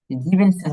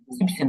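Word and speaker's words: siebzehn: হ্যাঁ, যে জেকসেন আর হচ্ছে জিপসেনটা একটু শুধু খেয়াল রাখবেন, জিবেনসেন হবে না, জিপসেন হবে, জেকসেন জিপসেন।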